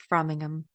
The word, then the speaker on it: Framingham: But yeah, so It's pronounced Framingham.